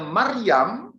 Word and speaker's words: Maryam: Miriam, bunyi Aramnya Maryam. Jadi Miriam Ibrani, Maryam itu Aram, kemudian diserap dalam bahasa-bahasa Eropa, bahasa Yunani, bahasa Latin menjadi Maria.